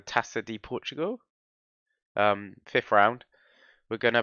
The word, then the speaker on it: Taça de Portugal: Today we're going to play, which I think is pronounced the Taça de Portugal.